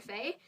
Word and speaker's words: fae: And so the last two, you pronounce the first one, fey fair, and so it's FAE/FAER.